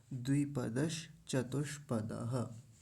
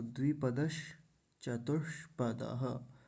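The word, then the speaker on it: द्विपदश्चतुष्पदः: चतुष्ः ऐसा द्विपदश चतुष्पदः तो द्विपदश में तालव्य शकार हलंत है और चतुष्पद में मूर्धन्य शकार आधा है हलंत है तो द्विपदश चतुष पदः दोनों का उच्चारण एकदम पता चलना चाहिए उसमें अंतर आना चाहिए द्विपदश चतुष्पदः ऐसा बोलेंगे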